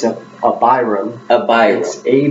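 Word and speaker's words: Abhiram: how do you say his name it's a Byram a bias a b h i r a m okay so a b is up that means father like AVI or Abraham so Byram so I would be a good the hand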